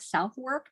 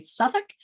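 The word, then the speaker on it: Southwark: London borough of Suffolk it looks like southwork pronounced apparently Suffolk it was a seedy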